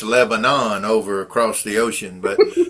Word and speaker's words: Lebanon: It's pronounced Lebanon in Tennessee. It's Lebanon over across the ocean, but yeah, once you start doing that Lebanon.